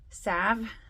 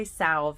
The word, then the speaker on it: salve: another tincture and Sal Sav I always say salv even though I know it's not the L is silent you guys sa um